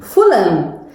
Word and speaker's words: Fulham: Fulham. That's interesting. We don't pronounce the H.